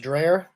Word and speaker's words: Dreher: I think it's pronounced Dreher, from the American Conservative.